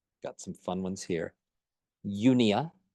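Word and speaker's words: eupnea: some fun ones here unia again silent P because we're Americans Yia refers to normal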